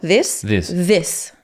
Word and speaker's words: this: Una qué palabra es esa sis. Des de esto this, no. Mucha gente lo pronuncia como si fuera una s.